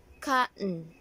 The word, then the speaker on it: cotton: do you say this you might say cotton right give me a cotton actually it's not cutting it should be cut so it's silent T cotton next is how do